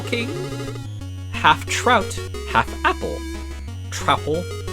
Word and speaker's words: Truffle: Truffle? Pronounced like mouthful.